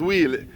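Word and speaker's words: huile: spell pronounce it as wheel is a French no wheel is a French term eight h u i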